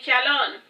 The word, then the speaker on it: Shalon: of those dead languages it is pronounced the same way as you do Shalom but with an n Sound at the end of it now back to the